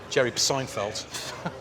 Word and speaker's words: Seinfeld: Jerry Seinfeld. The B is silent.